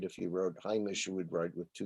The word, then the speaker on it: Heimish: about pronunciation, things like a word that those of us who speak and write non-Haredi Yiddish would pronounce as Hamish, and that's the way it's come into English, meaning homey, not homely, but homey. Is pronounced Heimish.